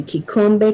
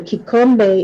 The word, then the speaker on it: Kikombe: Um, and we have the kikombe chao moja, or the kikombe. Kikombe is spelled Kikom, as in Mary, B as in boy, E, Kikombe, Kikombe.